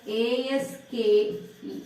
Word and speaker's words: ASCII: EBCDIC, this ASCII is pronounced as ASKEE.